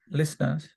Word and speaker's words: listeners: an increase in in radio list listeners lers it is silent listeners there is an increase in in radio listeners from 2 p.m.